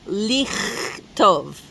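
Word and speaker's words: לכתוב: So, for example, the verb to write is lichtov. Lichtov. Lichtov is the infinitive form, to write. And we can hear that it has that throaty ch sound. Lichtov. It's not lichtov.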